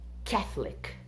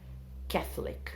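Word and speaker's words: Catholic: entre os Católicos católicos em inglês escreve desse jeito mas fala catlett catlett essa é a pronúncia tá então o entre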